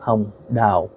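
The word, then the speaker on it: Hồng Đào: acting of uh a uh female actress called H da her name is spelled h o n g space d a o and in Vietnamese that's pronounced H da uh I remember growing up watching her um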